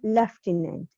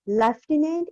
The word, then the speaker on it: lieutenant: So, he was the most trusted lieutenant or lieutenant. It's a commissioned officer rank, it's a rank in armed forces, but you can call lieutenant, it is British, lieutenant, American pronunciation, both are right, of Quaid-e-Azam till his death.